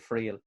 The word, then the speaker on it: Friel: Am I pronouncing that right, Friel?